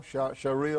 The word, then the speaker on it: Sharia: us a little bit about how do you pronounce the shiara law Sharia law Sharia law okay and Sharia law is